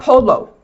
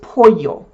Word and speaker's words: pollo: The elle is a doulbe L and it's pronounced like a y, like chicken - pollo. It's not polo, it's pollo.